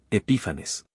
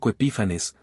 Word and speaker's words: Epífanes: Antioco Epífanes se escribe ep i p h a n e s. Epífanes.